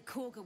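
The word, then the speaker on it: Kagha: Apparently Corga wants to see you. Go ahead. Corga? But it's spelled Kaga.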